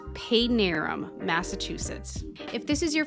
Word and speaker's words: Padanaram: Some people pronounce it Padanaram or Padanaram. It's Padanaram, Massachusetts.